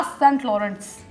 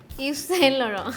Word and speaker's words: Yves Saint Laurent: या सेंट लॉरेंस. ऐसे नहीं बोलते इसको. अब बताओ. It's Yes Chez Laurent. क्या क्या? Yeah. Yes Saint Laurent. I think that's the correct pronunciation.